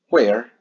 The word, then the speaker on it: where: Presten atención a la pronunciación de la WH. Realmente no suena como alguna vez nos habían dicho what o where. No, resulta que suena como una J aspirada y en realidad se pronunciaría what, where y who.